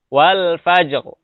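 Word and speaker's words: والفجر: adalah fathah, maka dibaca wal fajr. Wal fajr. Ya, jadi tetap ada ro tebal. Ro-nya harus tebal. Kenapa? Karena sebelum sukun dan sebelum sukunnya lagi adalah fathah. Jadi dibacanya wal fajr.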